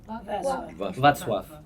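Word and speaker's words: Wacław: Václav. Como si fuera B corta. Está bien, Václav. No, la L tachada me da más. Václav y él para mí.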